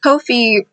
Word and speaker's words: Ko-fi: is not pronounced like coffee. And I'm like, what do y'all mean? Yeah, I'm like, what do you mean? And so I clicked it and they're like, oh, coffee. Kofi rhymes with no fee.